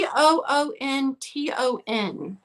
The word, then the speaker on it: Boonton: yeah yeah it's all boonton ware can you spell that i'm having a hard time hearing it b b-o-o-n-t-o-n can you see it yeah boonton just like